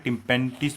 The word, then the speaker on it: tympanitis: आपको बता दो, अफरा को इंग्लिश में टिम्पेंटिस बोलते हैं। यहाँ पर आप प्रोनाउंसिएशन देख लीजिएगा, इसका स्पेलिंग ये TYMPANITIS।